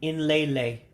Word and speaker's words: nlele: So N is its own syllable. So it's a N, then lay. So nlele for watch. So again, remember the E's take on an A sound.